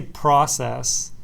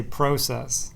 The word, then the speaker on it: process: I noticed that uh I say process and the guys in London say process that was the big